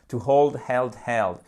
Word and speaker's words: hold: Easy Peasy OK alors n'oublie pas évidemment de prononcer à chaque fois le h on ne s'époumonne pas non plus parce que souvent nous francophones on a tendance à trop vouloir bien faire donc on fait un hold il faut bien le doser ok hold ça c'est